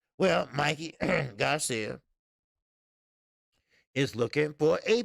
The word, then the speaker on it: Mikey: well agent broner say mickey clubhouse well pronounced mikey so he said mickey mickey mouse clubhouse well mikey garcia is looking for